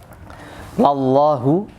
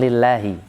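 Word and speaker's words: لَلّٰهُ: Lallahu, itu bacanya lallahu ya, bukan lillahi.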